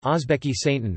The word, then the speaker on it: Oʻzbekiston: Uzbekistan, U.S., listen, U.K., Uzbek, Uzbekistan, pronounced Ozbekistan, Russian, Uzbekistan, officially also the Republic of Uzbekistan, Uzbek, Uzbekistan Respublikasi, Uzbekistan Respublikasi, Russian, Respublika Uzbekistan, is a landlocked country.